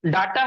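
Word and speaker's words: data: तो वो डाटा होता है, उसी को हम लोग डेटा बोलते हैं, ठीक है ना। लेकिन सब लोग प्रोनाउंसिएशन में डाटा डाटा सब लोग बोलते हैं।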